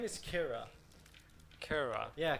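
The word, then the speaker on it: Qira: Her name is Kira. Kira. Yeah, Kira, but with a Q-I. So not Kara. No, Kira.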